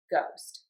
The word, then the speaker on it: ghost: But there are times, and this is very common, when we have OST, where we're going to say a long O. And that would be in the words moʊst, hoʊst, poʊst, and goʊst.